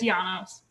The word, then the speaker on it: Janos: next we have am i pronouncing your last name correctly uh it's janos janos okay i apologize for